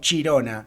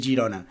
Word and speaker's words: Girona: no eran catalanes pues nombraban eh Girona como chirona chirona eh Bueno pues por la manera eh exagerada un poquito de pronunciar en catalán eh la que fonéticamente es Girona entonces eh era una una manera de eh de pronunciar esta palabra de manera eh digamos un poco exagerada de ahí la palabra